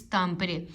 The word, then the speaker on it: Tampere: मैं प्रोनाउंसिएशन मैं क्योंकि तामपरे को भी टैम्पर यूनिवर्सिटी कह रहे थे, तो भाई ने मुझे कहा जी इट्स तामपरे।